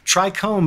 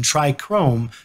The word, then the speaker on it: trichome: word trichome as trichrome what I didn't notice till recently was that both of those terms mean something in Greek trichome being the anatomically accurate term meaning plant hair and my mispronunciation try Chrome meaning three colors in Greek so really